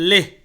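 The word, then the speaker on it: Leh: নগর আচ্ছা লাদাখ এর ক্যাপিটাল হচ্ছে লেহ লেহ লে এল ইচ লে বাংলায়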